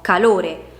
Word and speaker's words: calore: Perciò calore, quella più intensa, quindi la sillaba tonica, è la penultima.